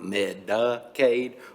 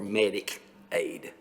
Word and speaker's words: Medicaid: Medicare is, Well, it just seems to me it's spelled differently. I just want to make sure I'm saying it properly, not Medicaid or Medicaid.